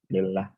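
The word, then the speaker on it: لله: Dan hamzah atau alifnya dihilangkannya, maka di sini kita baca bukan Allah, apa lillah, di mana lam yang pertama ini adalah huruf jar.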